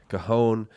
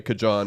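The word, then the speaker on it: cajón: So I'm just glad I said it right, because I usually say cajon or something like that. And Dylan's like, that's not how you say it.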